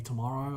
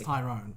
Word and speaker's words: Tyrone: and she was nearly she mispronounced my name she called me tomorrow I was like no no she actually thought my name was tomorrow it's Tyrone sorry anyway there was a